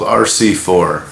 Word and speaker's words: RCIV: It's called RC4. RC4. That way I don't want to get it wrong. RCIV is how it's spelled. RC space IV. And but it stands for River City 4.